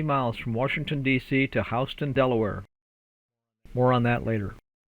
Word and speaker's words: Houston: Okay, now that we have arrived in Houston, Delaware, the locals tell me that Houston is pronounced Houston around here.